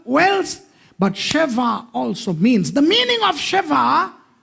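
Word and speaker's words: שבע: Sheva.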